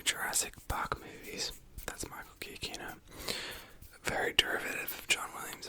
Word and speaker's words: Giacchino: I pronounced it Giacchino, which is not what it is. It's Giacchino. It's all hard sounds.